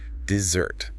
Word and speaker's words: dessert: Desert, the hot sandy place, has the stress on the first syllable, dessert. But dessert, the sweet cake, shifts the stress to the second syllable, dessert.